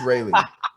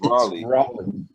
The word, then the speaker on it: Raleigh: He's from Raleigh. He's from Raleigh, North Carolina. Yeah. You're about to say it Raleigh. What? It is Raleigh. It's Raleigh.